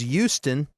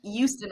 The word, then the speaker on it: Houston: And then there's we have Houston, Texas, but in New York the street's Houston. And then there's Houston. People that say it with a Y. Don't pronounce the H. They're like Houston. I went down to Houston.